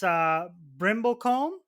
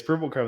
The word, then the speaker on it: Brimblecombe: It's Brimblecombe. Yes, Brimblecombe.